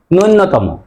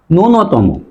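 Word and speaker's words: ন্যূনতম: শব্দ না নিচের শব্দ আমরা অনেকেই বলি নূন্যতম আসলে এই সঠিক বানান কি এবং উচ্চারণ কি সে বিষয়ে আমরা অনেকেই ভুল করি আসলেই এই সঠিক বানান হবে এটা আই জ ফেলা দীর্ঘ দন্তনা ত মম আর উচ্চারণ হবে নূন্যতম ন উচ্চারণ হবে নুনতম তাহলে এখন থেকে আমরা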